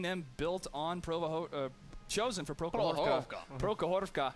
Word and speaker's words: Prokhorovka: Prokhorovka. What is our Russian? Prokhorovka.